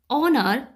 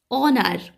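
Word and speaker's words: honour: হার মত হয় কিন্তু যখন এইচ এর উচ্চারণ হ বা হার মতো না হয়ে অ বা আর মতো হয় অর্থাৎ ভাওয়েলের মত হয় তখন তার পূর্বে এন বসে তাই এটা হবে ইট ওয়াজ অনার to meet you would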